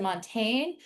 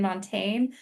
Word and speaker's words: Montaigne: went back and forth you pronounce it montaine. I I'm hearing some academics use Montaine. I'll just do it the American Montaigne.